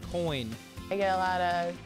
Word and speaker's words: Koehn: there's her last name it might be spelled k o e h n but come on guys it's pronounced coin I get a lot of Coen or keen and yep but that's